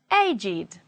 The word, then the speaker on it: aged: If they are adjectives, they do not follow the rule and they will be pronounced with id, it. Let's read it as adjectives. Aged, blessed, crooked, dogged, learned, naked, ragged, wicked, and wretched.